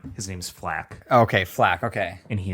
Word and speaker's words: FL4K: So first of all, before I explain why I chose Flack, I want to say that that sounds better than Flake. Really, yes, and it's spelled FL4K.